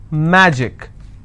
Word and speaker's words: magic: Magic, I will stress on ma.